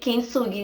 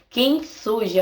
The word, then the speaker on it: Kintsugi: culpando e teve a ideia de levar em um artesão que faz peças de kintsugi.